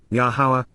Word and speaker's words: Yahowah: about and consult with, Yahowah, the proper pronunciation of Yahuwah based upon his Torah,